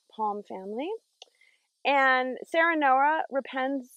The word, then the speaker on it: Serenoa: right palm family and sarah noah repens sarah noah sounds like the word serene um although it's named